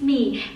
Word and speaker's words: My: everyone, my name is Me. It's written like my in English but pronounced like me in Vietnamese.